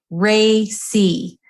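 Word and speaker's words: RACI: who have not seen this again it it's pronounced Ray C and the acronym is r a CI and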